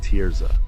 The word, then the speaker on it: Terza: I have a wife, Juliana, who was a registered nurse in the ICU, and we have a daughter, Terza, pronounced Tierza.